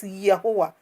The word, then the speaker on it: Yahuwah: Even though it's being pronounced in other way, it is Yahuwah.